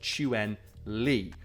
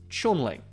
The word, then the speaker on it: Chun-Li: as Chun Ley in pinin and should be pronounced chuen Lee despite westner commonly pronouncing it as chuning which is fair and that maybe it's like